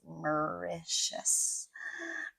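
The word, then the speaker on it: Mauritius: We were on holiday in Maitius. Okay, that's the pronunciation. Yeah, it's a weird word, but it's micious. Micious in English at least.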